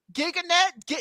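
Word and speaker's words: Cam Gigandet: Giganet. That's how you pronounce his name.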